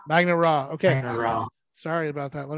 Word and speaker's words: Magna Ra: things over um to is it is it pronounced magna ray is that a magnet magnet raw okay sorry about that